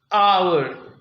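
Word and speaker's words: hour: आवर, इसमें H silent है, तो क्या बोलेंगे फिर इसके साथ?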